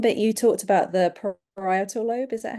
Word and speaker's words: parietal: And there was one bit you talked about, the parietal lobe, is that how you say it? Yes, parietal.